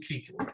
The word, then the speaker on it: Kuechly: Luke Kuechly.